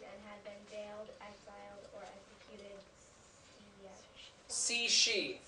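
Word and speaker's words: Cixi: had bailed exiled ored C she that's how that's pronounced okay CI is in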